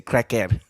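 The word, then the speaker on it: kreker: The way you say cracker in Slovenian is the same way you say it in English. You just say cracker.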